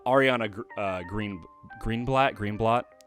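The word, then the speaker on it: Greenblatt: uh green green blat green blot is how you pronounce her name she's she's I I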